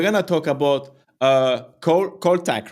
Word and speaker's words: Kholtak: and yeah we're gonna talk about uh Co col Tac right do I pronounce it well I have issue with pronunciation